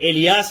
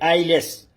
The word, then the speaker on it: alias: The word is, we write it ALIAS, लेकिन ये एलियास नहीं है. ये क्या है? आईलेस. इसको हम कैसे प्रोनाउंस करेंगे? आईलेस.